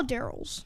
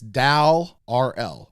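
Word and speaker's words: Dal R'El: gone I only saw Daryl's yeah well now let's say his name correctly it's Dal RL Dal RL Dal is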